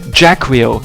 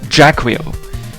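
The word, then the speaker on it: Jaquio: There's one guy who pronounced it Jacquio, and that's what I'll be going with. I'll pronounce it Jacquio.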